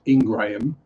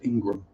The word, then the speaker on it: Ingraham: One is Ingram, so Ingram, and the other one is Ingraham, which technically you'd think therefore should be pronounced Ingraham, but it's actually still just pronounced Ingram.